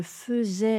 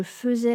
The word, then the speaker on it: faisais: Ça s'écrit à I, mais c'est un des rares mots qui se prononce eux, enfin ou la graphie. A I se prononce e je faisais la fête et pas je faisais la fête.